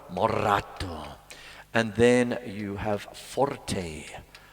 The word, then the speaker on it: moderato: And then you have moderato, got to roll your R, moderato.